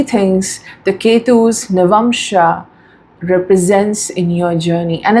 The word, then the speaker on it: Navamsha: So there are these few people, handful people, they say it's Navamsha, it's not Navamsha. But bro, Navamsha is right, Navamsha is also right. Navamsha is not the wrong pronunciation.